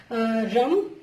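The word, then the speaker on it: रं: उसका जो मूल मंत्र होता है वो होता है रम। तो रम के साथ आप रम शब्द का उच्चारण कीजिए, र और उसके ऊपर अम की बिंदी, रम करके अपने सोलर प्लेक्सिस चक्र को आप हील करने की कोशिश कीजिए।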